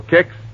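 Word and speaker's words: Kix: All right, ask your grocer for Kicks tomorrow morning. That's spelled K-I-X.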